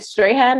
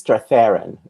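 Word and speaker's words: Strathairn: tony clare and david is it david strahan i never know how to pronounce it um i think it's stratharin it's hard okay well you know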